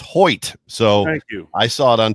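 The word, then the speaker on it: Hoecht: thoughts on on Michael heck well the first one is is I apparently pronounced it wrong because Zack of all trades gives us a super a Super Chat and says it's Hoy so I saw it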